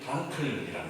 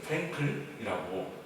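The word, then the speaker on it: Frankl: 그래서 한 90살 정도까지 90살 넘게 살았던 사람인데 빅토르 에밀 프랑클이라는 사람입니다. 아마 우리 친구들 중에서는 빅터 프랑클이라고 알려져 있는 프랭클이라고 영어식으로 발음해서 알려져 있는 사람일 겁니다.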